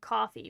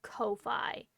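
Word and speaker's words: Ko-fi: No one can tell me not to pronounce it coffee because why would your whole gimmick be buy me a coffee and it's pronounced Kofi?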